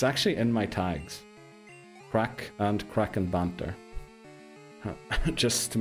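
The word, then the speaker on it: craic: Yeah, it's spelled C R A C R A I C. It's actually in my tags. Crack and Kraken banter just to make sure.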